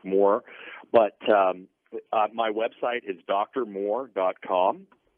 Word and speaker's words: Mohr: again appreciate this opportunity my last name is spelled kind of funny it's mohr it's it's pronounced just like more but my website is